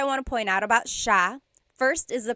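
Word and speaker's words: siya: So the s i y it's a sha sound. Sha. And then another thing I want to point out about the subject pronoun sha is that it is genderneutral.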